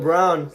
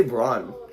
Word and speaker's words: Braun: Colin Brown. Or Braun. I say Braun. You're all mispronouncing it.